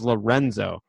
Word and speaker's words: Lorenzo: He goes, my name is Lorenzo. And I was like, oh, sorry, did I mispronounce it? He goes, yeah, I'm Italian, not Brazilian.